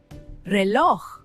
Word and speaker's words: reloj: Reloj. That J at the end is the ultimate test.